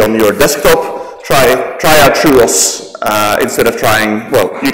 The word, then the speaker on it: TrueOS: If you are interested in running FreeBSD on your laptop, I would recommend the Truos distribution of FreeBSD. It's spelled Trueos.